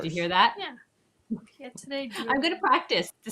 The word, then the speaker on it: pietra dura: Pietre dure. Oh, of course. Did you hear that? Yeah. Pietra Dura.